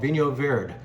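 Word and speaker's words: Vinho Verde: in northern Portugal called Vinny Oh veered and that's how you pronounce it and that's in fact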